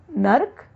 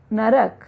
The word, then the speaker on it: नरक: नर्क, नरक। नर्क जो है वो अशुद्ध है, इसका शुद्ध होना चाहिए नरक।